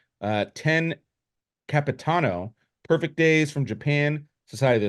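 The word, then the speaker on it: Io Capitano: But we have 10 Capitino. That's not even how you pronounce it. 10 Capitano.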